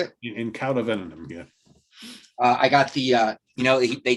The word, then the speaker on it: In Cauda Venenum: In Cauda Venenum, yeah.